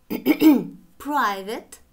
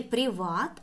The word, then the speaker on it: private: Private, частный. Не приват, а private.